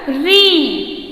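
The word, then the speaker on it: ऋ: ठीक है, उसके बाद आएगा री, क्या है इसका उच्चारण, री।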